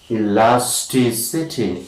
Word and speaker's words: elasticity: Next is elasticity.